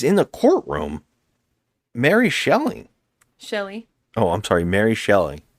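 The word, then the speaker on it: Shelley: the courtroom Mary shelling Shelly oh I'm sorry Mary shelling Shelly I'm sorry Mary Shelly yes he keeps saying shelling who's not yet Mary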